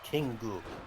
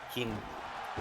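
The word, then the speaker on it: Kingu: No, King Goo, like the English pronunciation of king. Uh-huh. K-I-N-G-U, King Goo.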